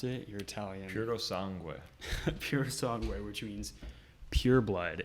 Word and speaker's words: Purosangue: How do you pronounce it? You're Italian. Purosangue.